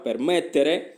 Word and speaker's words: permettere: Con l'accento qua, permettere, con la forza della pronuncia, la fate qua.